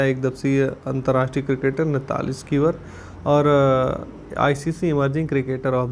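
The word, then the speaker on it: Sciver: आईसीसी सर्वश्रेष्ठ महिला खिलाड़ी मिताली स्कीवर, इनको बोला जाता है साइबर भी, इनको स्कीवर वैसे नाम है, यहाँ पे जो है प्रोनाउंसिएशन इनकी है नैथली स्कीवर, इंग्लैंड के।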